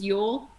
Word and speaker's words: Ewell: Since you said that, Jody, my last name is Ewell, not Ewell. Oh, Ewell. Okay, very good. Thank you. Yeah. But it is spelled E-W-E-L-L. Yes. Okay, cool. It's like you, like a female sheep.